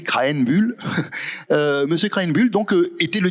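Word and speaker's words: Krähenbühl: Oui, Krahenbuhl. Pour bien le prononcer, Krahenbuhl.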